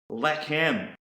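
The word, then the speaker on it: לחם: Another Hebrew word is pronounced lechem.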